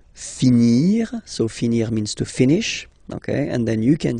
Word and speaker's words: finis: Remember, final S is not pronounced. Je finis, okay? Tu finis, so I-S as well, like we had for je. So same way to pronounce it as well. You don't pronounce the final S.